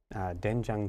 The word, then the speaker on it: 된장: So in our first syllable, 네, it looks like OE, 네. looks like doin, 네. but pronunciation becomes duen, 된, doenjang.